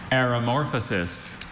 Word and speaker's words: aeromorphosis: Aeromorphosis. Aeromorphosis. Are there any alternate pronunciations? I have aeromorphosis and aeromorphosis.